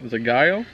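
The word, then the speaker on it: Zagaia: a Brazilian flag on it how do you pronounce that that Gia lures it's Brazilian zagaya Z I'm Southern so anyway so you go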